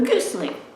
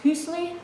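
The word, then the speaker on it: гусли: In Russia and Belarus, you have what they call the Gusli, and sometimes pronounced Husli. I think that the letter that it starts with sometimes something in between an H and a G, so sometimes if you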